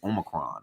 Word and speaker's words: Omicron: this omarion variant people i know i said it wrong it's it's omicron or omicron i'm calling it the